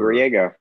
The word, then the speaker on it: Griego: Most people probably know how to pronounce it anyway, not me, but it's like Diego. Trade the D for a grr. Griego.